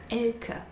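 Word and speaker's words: Elke: Anyway, the name is actually pronounced Elk or like L, you see, and on the scale, I'd say it's around here.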